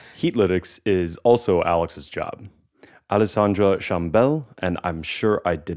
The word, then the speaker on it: Alexandre Chambel: Alexandre Chambel, and I'm sure I did not quite pronounce that right. Could we have the tone for his name that he says himself? I'm Alex, Alexandre Chambel.